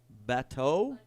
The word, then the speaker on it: Batau: Batau. Batau. Batau. Batau. That's you know when you stub your foot, you have a bad toe. Bad toe.